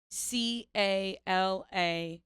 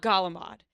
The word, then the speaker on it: calamari: do you say c-a-l-a-m-a-r-i calamari thank you it is not Gala mod that drives me nuts